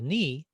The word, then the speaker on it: knee: they were pronounced so the word we now say or pronounce as a knee used to be pronounced knee so it did have a k sound and an n sound and two e's kane but then something happened